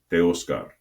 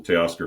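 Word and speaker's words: Teoscar: Like Teoskar Hernandez. Everybody calls him Teay Oscar Hernandez, but that's just anglicized.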